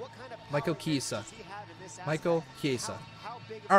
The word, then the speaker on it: Chiesa: I want to hear how to pronounce his name. Michael Chiesa?